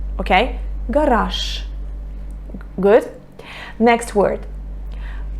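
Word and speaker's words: гараж: Garage. Garage. Can you hear? I say sh. I pronounce the voiceless consonant. I pronounce the voiceless sh instead of voiced j. Okay? Garage.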